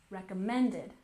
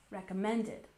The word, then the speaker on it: recommended: And recommended, we have a subtle stress on the first syllable with the main stress on the third. With me, recommended, recommended.